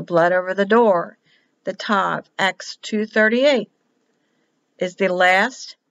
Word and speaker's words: Tav: When there's a dagash, a dot, it's tav. When there's no dot, it's a TH, or SAV, I've seen it pronounced that way.